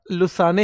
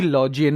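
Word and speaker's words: Lausanne: इसको बेटा लुसाने हिंदी में कई किताबों में लिखते हैं। वैसे इसका उच्चारण जो है प्रोनंसिएशन इसकी लॉजेन मानी जाती है।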